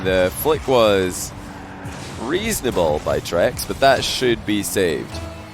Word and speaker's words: Trex: He said it's pronounced Trex.